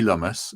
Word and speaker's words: Lumus: So this lady is um Kerry Lumus. She said it's pronounced like uh hummus and I don't know if you pronounce humus or hummus.